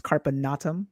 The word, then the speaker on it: Carpe Natem: So carpe natum, or as your husband properly pronounces it, it's carpe natum.